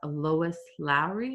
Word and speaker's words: Lois Lowry: And by Lois Lowry, is that how you say it?